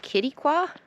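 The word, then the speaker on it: Quitaque: or right out of, it's called Kittiqua. Hope I said that right. Thank God they had on their welcome sign how to pronounce the name, because it's pronounced nothing like how it's spelled.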